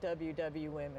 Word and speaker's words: WW Women: Do you pronounce it women, or how do you say it? No, we actually do say it WW Women.